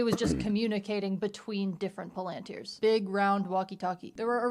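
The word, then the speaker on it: palantír: I'm always inclined to pronounce it palanteer cuz there's an accent on this eye, but in the movie, Gandalf says palanteer, so I guess we're going with that.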